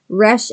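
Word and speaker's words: רע: Resh Ayin, pronounced re.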